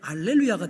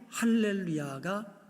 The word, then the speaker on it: 할렐루야: 그 쉼표처럼 작은 따옴표가 있으면 이게 알렐루야가 돼요. 그런데 작은 따옴표를 반대로 이렇게 돼 있으면 이거는 H 발음이 됩니다. 그래서 할렐루야가 맞습니다.